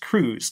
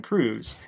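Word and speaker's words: Kruse: by the historian Kevin I think it's pronounced Cruz Kevin Cruz that explores the way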